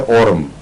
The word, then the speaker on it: Aurum: छपाकी वगैरह में, तो आरम ट्राइफिलम, आरम म्योर नहीं, उसकी स्पेलिंग अलग अलग हैं। औरम है एक, उसका तलफ़्फ़ुज़ है औरम, ये गोल्ड है और AURUM लिखा जाता है, और एक है आरम, मैं आरम कह रहा हूं इस वक्त, जो